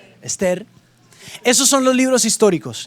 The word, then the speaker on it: Ester: Josué hasta Ester Ester quiero que sepan que la Biblia ahí no tiene acento entonces mentira Cómo se dice Ester Ester Esos son los libros